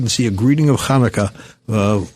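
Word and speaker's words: Chanukah: how do you spell Kaneka? You don't spell it with an H. It's got to be ch cuz but you don't have that guttural sound in English.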